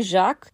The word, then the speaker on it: Jacques: It was Frere Jacques. Actually, Jacques, or Jacques, as in some versions for the syllable count's sake it's pronounced, it doesn't translate to John.